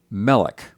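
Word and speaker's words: מֶלֶךְ: We have melik. That's king. Accents on the first syllable.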